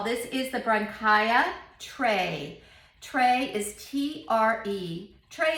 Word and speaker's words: Tre: is the bronchial tray tray is t-r-e trey is the italian pronunciation for three there are three grapes